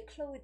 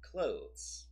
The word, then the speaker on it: clothes: of people would say clothes easy Brody's right that's so wrong clothes yeah so how I tell my students is that it's more like closing a door yeah just closed so